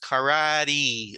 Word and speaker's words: karate: English this is pronounced karate like in like an e sound at the end so uh I really